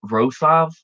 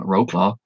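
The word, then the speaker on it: Wrocław: I spent a day in row South that's how you pronounce that I think I kept calling Wroclaw um just kind of bum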